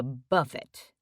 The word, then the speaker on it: buffet: I think she was eating a buffet. He pronounces it to rhyme with tuffet.